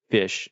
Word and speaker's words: Fisch: It's this fishing game called Fish, and it's spelled Fisch.